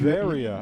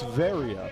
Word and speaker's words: Varia: Varia. I've just been alerted by our producers that I'm putting too much emphasis on the wrong syllable and that it's Varia. Emphasis on the ve.